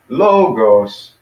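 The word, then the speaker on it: λόγος: know low gross - two syllables with logos and the accent is on the first one not the second so be the logos and then with wheels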